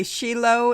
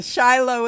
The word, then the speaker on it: Shiloh: hope you noticed that I'm pronouncing it both way she Lo is the Israeli way and Shiloh is the American Way spelled the same yes yes you know